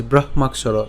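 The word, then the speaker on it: ব্রহ্মাক্ষর: ভাঙলে কি পাই ক হসন্ত যোগ মূর্ধন্যস পাই তাহলে উচ্চারণটা করলে কি হবে ব্রহমাক এই মাক ঠিক আছে ব্রহমাক এবং সর এইযে আমরা সুবিধার জন্য এভাবে ভেঙে দিয়েছি ব্রহমাক সর একসাথে উচ্চারণ করব ব্রহমাক সর ঠিক আছে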